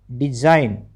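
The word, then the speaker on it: design: डी ई एस आई जी एन डिजाइन।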